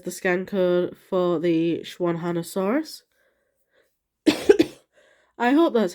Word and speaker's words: Xuanhanosaurus: uh a zed uh if it starts with an X like this one does you kind of pronounce it as a sh sound like an sh so it's like shwanna had a source instead of X1 oh there's one there's